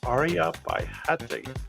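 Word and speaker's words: Aryabhatiya: Let me pronounce that a little better. Aryabhatya.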